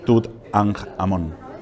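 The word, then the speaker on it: Tutankhamón: a nj el sol fonéticamente es una jota que significa vida no por tanto nosotros deberíamos pronunciar tooth and Amón que significa imagen viva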